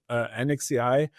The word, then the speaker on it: NXAI: have yeah and so nxai is that how you're pronouncing it or do you call it NEX AI or yeah uh we are not sure until now we call it anex AI uh uh El mask